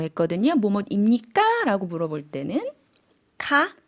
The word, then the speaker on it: ค่ะ: 어떻게 대답한다 그랬죠? 카, 네, 끝을 내려준다고 했어요. 반면에 여성은 물어볼 때는 끝을 올려준다라고 했거든요. 뭐뭐입니까? 라고 물어볼 때는 카, 네, 끝을 올려주시면 되겠습니다.